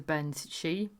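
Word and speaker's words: bean sídhe: And obviously this makes no sense when you're not looking at it written down. But obviously Ben is spelt bean, and then she is Sidhe, which just basically means fairy woman.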